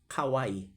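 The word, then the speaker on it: Kauaʻi: Uh the spelling of Kauai is k a u a apostrophe i. Kauai. That's that's how they pronounce in in Hawaii in the state of Hawaii.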